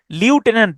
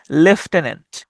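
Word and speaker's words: lieutenant: তবে এটার উচ্চারণটা কিন্তু লিউটেন্যান্ট না, এটার উচ্চারণটা হচ্ছে লেফটেন্যান্ট।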